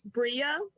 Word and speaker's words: Brea: It's Brea, like Brea. rhymes with Maria.